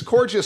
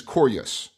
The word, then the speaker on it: Korjus: you want we can keep it cous cuz cous sounds gorgeous gous Cous I like it more so I so the actual pronunciation is corus corus dead rotting animal fleshes I'm I'm happy